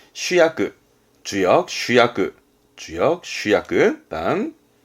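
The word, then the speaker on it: 主役: 발음은 슈야크.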